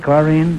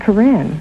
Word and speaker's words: Corinne: Is that the way you pronounce it, Corrine? No, Groucho, it's Corinne.